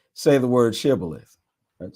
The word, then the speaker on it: Shibboleth: The men of Ephraim could not say that word correctly. They pronounced the word Sibboleth. So if the man said Sibboleth, then the men of